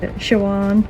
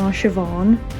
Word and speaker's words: Siobhan: mom mom Neve Deirdre Shawan what's up Shawan no Siobhan ishin Sean Dara Christopher